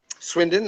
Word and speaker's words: Swindon: the British pronunciation swinden swind how do you pronounce it Tony Swindon that's good that's good yeah perfect perfect okay